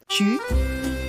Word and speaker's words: Tu: "Tu" is not pronounced like the English word "too".